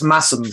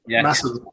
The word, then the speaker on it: Masham: I should say that it's Massam. You pronounce it Massam.